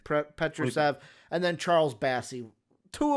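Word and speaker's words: Petrušev: Petrusev, and then Charles Bassey.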